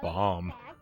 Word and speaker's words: bomb: probably would have been the word bomb that's not even the right number of letters and the b at the end is silent i like your choice